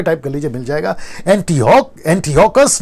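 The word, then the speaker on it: Antiochus: में यह आता है एंटियोकस, एंटियोकस, ठीक है ना। इसका प्रोनाउंसिएशन यही करा था ना हम लोगों ने, हाँ नहीं ये वाला एपिफेंस।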